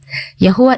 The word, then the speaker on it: Yahuah: Yahuah is the more accurate pronunciation of the Hebrew 4 vowels used to identify the name of the Creator. Ancient Hebrew shows no record of a W sound.